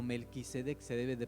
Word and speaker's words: Melquisedec: Había otro tipo de sacerdote, era Melquisedec, o Melquisedec se debe de pronunciar.